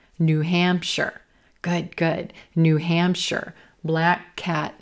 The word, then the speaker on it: New Hampshire: I'm going to stress the second word here, Hampshire, Hampshire. It's not New Hampshire, New Hampshire, New Hampshire. Good, good.